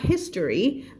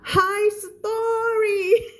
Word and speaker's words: history: the world หมายแล้วนะ world คำนี้อ่านแบบครูแจ๊สอ่านว่า history อ่านแบบครูเพนสีอ่านว่า high story ขอโทษฉันผ่านไม่ได้จริงๆฉันชอบมาก in the high